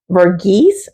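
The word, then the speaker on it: Verghese: I know I'm going to mess up this author's name, but this is Abraham Bergis, I believe is how he pronounces his name.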